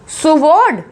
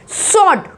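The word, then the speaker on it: sword: Next वर्ड देखो सुवॉर्ड, सुवॉर्ड ही बोलते होंगे आप लोग इसको, है ना, लेकिन ये है सॉर्ड, सॉर्ड, इसमें क्या है, डब्ल्यू साइलेंट है, इसको बोलेंगे सॉर्ड यानी कि तलवार।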